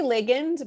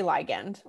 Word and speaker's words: ligand: I say ligand, but a lot of people say ligand.